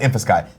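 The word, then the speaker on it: InfiSky: Infosky, pronounced Infosky.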